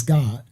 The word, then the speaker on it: Gad: No, so Gad, the actual tribe of Gad is not Gad, it's God. Because there is no ad sound in Habariya Hebrew.